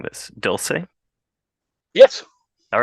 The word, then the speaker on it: Dulce: Um, there's also Swords and Sorrows and a book called, let me know if I'm mispronouncing this, Dulce.